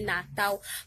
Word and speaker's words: Natal: prononce, il écrit Natal, mais il prononce Natal, parce que le L nom fin mot en portugais, il prononce tant que W.